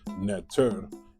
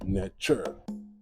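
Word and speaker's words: Netjer: And that's why you hear certain people say netter and some people say netcher. It could be pronounced both. So folks, there's no need to argue back and forth about it. It can be pronounced both ways.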